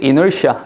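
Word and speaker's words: inertia: 혹시 이 단어 아세요 애널 씨아 그간 단어가 있습니다 이럴 싹 어여 그때 이 널 씨아 라고 읽어야 특이하죠 발음이 음 이게 무슨 뜻이냐면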